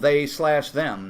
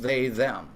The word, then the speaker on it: They/Them: pronounce it like that it is called they slash them not just they them so it was a